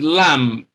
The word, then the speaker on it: lamb: So this is lamb, and that means B is silent, all right? Lamb. So the sound here is M.